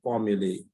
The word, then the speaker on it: formulae: Well, to pronounce that in the correct way, we say when we're referring to more than one formula, we call them formulae.